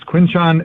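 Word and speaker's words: Quinshon: And I we were we had the lady who's in charge of pronunciation and Roger was right there and so she's like, "It's it's Quinchan."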